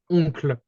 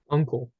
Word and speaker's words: oncle: in English you would pronounce it kind of like that, uncle. Okay. Mhm. In French, it would be like Oncle.